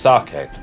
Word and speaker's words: sake: It's pronounced sake.